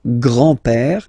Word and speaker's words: grand-père: So, le grand-père, grandfather. Le grand-père. Remember, accent grave like that. It's this opened père.